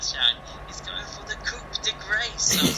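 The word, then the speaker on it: coup de grâce: "He's going for the Coupe de Grace!" I was like, have you just read it on the internet or something? It's like French, so I mean you pronounced it right.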